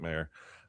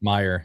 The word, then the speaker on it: Meyer: So, or mayor, excuse me. I think he's pronounces it mayor. Or or is it Meyer? Wasn't there a thing about that? It's Meyer. Yeah, Meyer.